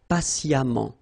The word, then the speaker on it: patiemment: So as I told you, even if you write it E-M-M-E-N-T, phonetically it goes like amant, patiemment.